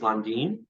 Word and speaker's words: Landin: full Hispanic Mexican and it's supposed to be pronounced londine but oh thank you and I didn't even ask you how to pronounce I just say Landon at this point myself yeah so I think